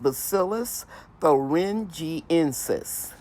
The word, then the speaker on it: Bacillus thuringiensis: It's pronounced Bacillus thuringiensis.